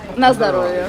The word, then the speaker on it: na zdrowie: how do you say Nazdarovia? Na zdrowie.